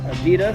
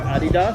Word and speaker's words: Adidas: Adidas [second syllable stressed] or Adidas [first syllable stressed], however you guys like to say that. I have definitely heard both depending on national origin of the person saying it.